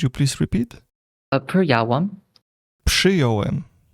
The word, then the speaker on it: przyjąłem: It should be przyjąłem because there is RZ is pronounced as ż. But after P, it would be very hard to say.